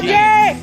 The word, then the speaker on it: Keen: He's pretty keen. And Keen, of course, rhymes with green.